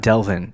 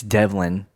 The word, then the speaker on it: Devlin: happen but Devlin Devlin I said his name wrong on the last podcast by the way it's not Delvin it's Devlin Devlin Hodges oh sorry I'm